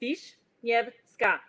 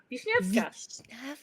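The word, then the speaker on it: Wiśniewska: And if you speak French, I find it helps to put your French brain on. Okay. And then just repeat after me. It's really easy. Wisniewska. Wisniewska.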